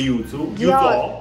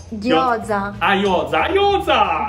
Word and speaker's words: gyoza: Yuzu, non si dice yuzu, Gyoza. Gyoza con la G.